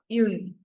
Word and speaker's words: une: With feminine noun, we use the article une. Oui. Yeah. Or oui. Une.